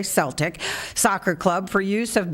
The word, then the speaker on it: Celtic: to negotiate with florida i want to say celtic because that is the correct pronunciation but they say celtic soccer club for use